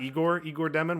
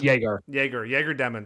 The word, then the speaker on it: Yegor: Number 9, you said it's not Igor Demon. What is his name? It's Yegor Demon.